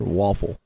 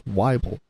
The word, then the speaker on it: Wyble: But anyway, I've had my last name pronounced wrong. WybleE, Wobble, but it's WybleE. My wife, she tells people it's like Bible, but WybleE.